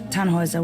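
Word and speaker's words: Tannhäuser: why what's your name tanhauser we'd pronounce it tanhoiser with an umlaut German roots yes my grandpa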